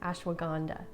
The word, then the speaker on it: ashwagandha: a long time to figure out how to pronounce ashwagandha ashwagandha it's known for its calming properties as well